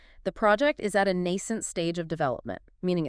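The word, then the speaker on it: nascent: Next is nent. N ce n t. Nent, two syllables stress on the first.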